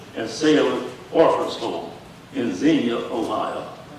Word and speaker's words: Xenia: Sailors Orphans Home in Xenia, Ohio. And Xenia is spelled Xenia. I don't know why they pronounce it Xenia, but that's what it is.